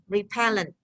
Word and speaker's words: repellent: word has three syllables like repellent when we pronounce individually repellent is the stress is on the second repellent but when we have a compound noun the